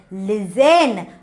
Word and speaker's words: listen: So when the word, the 10 is coming before any word, the T will be a silent. Listen. Okay, you should not pronounce a T. Listen, you should not say as a listen, because I know you all know what is the spelling for 10.